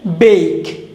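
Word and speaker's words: bake: বেক, বেক, ব্যাক না, বেক।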